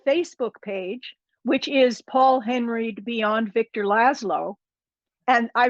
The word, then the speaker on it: Henreid: paul h-e-n-r-e-i-d follow her i think he pronounced it hungry didn't he it's no it's henry it's he's he's doing